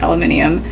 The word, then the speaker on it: aluminium: Both, again, probably Alabama, lawyer, coupon, mayonnaise, pajamas, caught, naturally, aluminum, even though we should pronounce it aluminium, Jif, Tumblr, crackerjack, doorknob, envelope, GPOY.